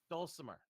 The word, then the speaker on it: dulcimer: am I pronouncing it so wrong? Dulcimer. Okay. Dulcimer.